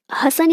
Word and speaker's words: हासन: इसका मुख्यालय दो जगह है, एक है भोपाल में, दूसरा हसन में। हसन कहाँ है? कर्नाटक में। हसन या इसको हासन भी प्रोनाउंस करते हैं कई बार।